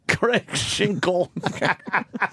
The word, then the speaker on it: Cregg Schinkel: You can't hear that L proper.